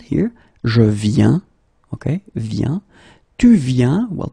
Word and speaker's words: viens: Okay, and phonetically it's the it's the same form. So you get je viens, okay, tu viens, il vient, elle vient.